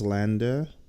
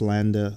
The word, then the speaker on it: LANDR: Some of you are wondering, what is Lambda? Lambda is spelled Landr.